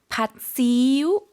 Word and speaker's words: ผัดซีอิ๊ว: 팥시우. 그죠? 어떻게 발음하죠?